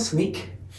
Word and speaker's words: Snyk: uh and so it's sneak it's it's s n e a k is the way to pronounce it uh but we'll spell